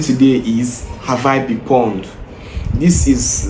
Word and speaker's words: pwn: As you can see here, the pawn is spelled PW N.